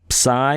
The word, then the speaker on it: psi: Psi is pronounced like a pss with the air still coming out of your mouth there, and then omega is pronounced like a long O.